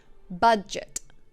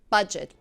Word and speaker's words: budget: Budget. The G is soft. Budget, 2 syllables.